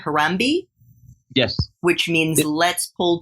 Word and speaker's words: Harambee: MB and I don't know if I'm gonna pronounce this correctly Harambee yes which means let's pull together in Swahili